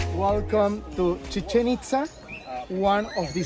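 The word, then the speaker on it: Chichen Itza: At the end, we pronounce like ha. Ha means water. Chichen-Itza.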